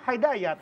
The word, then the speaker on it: Hidayat: Kan soalnya gue bacanya Hidayat. Hidayat. Bukan dibacanya Hai. Keren Taufik Hidayat gitu.